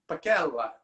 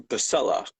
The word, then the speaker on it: Pacella: let and your last name is pronounced pacquella right if we were if we were in italy yes but in america it's been anglicized to pasella okay cool a lot